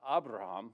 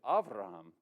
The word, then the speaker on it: Avraham: Now, to add one little more wrinkle to the cause is that his name in Hebrew is not Abraham, which would be normal in that pronunciation. It's actually Avraham, because the majority, I'm